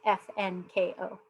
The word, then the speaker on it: FNKO: FM ko like what's up there I'm it's pronounced F and ko not something but all our things for social